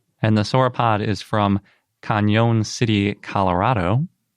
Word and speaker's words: Cañon City: And the sauropod is from Cañon City, Colorado. I think some people pronounce it Canyon City. I've heard that. But it's got an Enye, so it really seems like it should be Cañon.